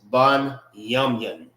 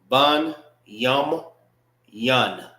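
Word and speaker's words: בנימין: How you say Benjamin in the Hebrew is ban yamun. Bun yum yan.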